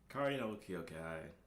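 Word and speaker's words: 空の境界: So, Kari no Kyokai, I believe is how it's pronounced, aka Garden of Sinners, The Garden of Sinners.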